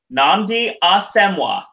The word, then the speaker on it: Nnamdi Asomugha: name then totally butcher it ok it's actually pronounced thanks Wickham thank you into pedia it is Nnamdi Asomugha ok that's easy it's always easier than it